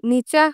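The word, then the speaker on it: Nietzsche: নিচের সম্বন্ধে কোন কিছু জানা শুরু করার আগে প্রথম চ্যালেঞ্জটা হচ্ছে তার নামের উচ্চারণ কিভাবে হবে? নেই প্রথম অংশটির উচ্চারণ নি। পরের অংশটি চাহ। সুতরাং জার্মান নিচা উচ্চারণ হচ্ছে নিচা।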